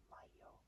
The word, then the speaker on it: Mayo: It's like saying the word Mario, but taking out the R, and you get Mayo.